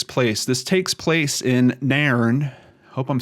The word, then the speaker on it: Nairn: this takes place in Narron I hope I'm saying that right I've heard it pronounced on a couple videos it's almost like Niren but may urn like they're two separate sounds Nairn is a town